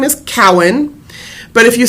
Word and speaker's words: Cowan: pronounced is C hen I'm often called Cohen um maybe it's because of my fascination with Jewish genealogy but um but my name is actually pronounced Cowen but just because your